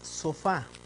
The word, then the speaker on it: sofá: una palabra aguda es la palabra sofá sí aquí está su acento en la última en la última sílaba para un ejemplo de